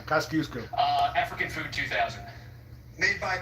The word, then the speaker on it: Kosciuszko: The smallest National Park Service site is a 0.02-acre Philly National Memorial named for this Polish-born man and rhyming with Moose Go. Let's say Pulaski. Who is Kosciuszko? Right. Kosciuszko.